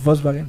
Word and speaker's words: Volkswagen: The W is a V. Yeah. So it's So- Volkswagen. Yeah. Volkswagen. So the V is like an F.